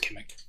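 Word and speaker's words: Kimmich: John Kimmick, I believe, is how it's CH, but I believe it's pronounced Kimmick.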